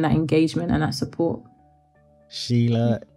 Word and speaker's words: Sheila: Sheila, it's been an absolute pleasure, really and truly has.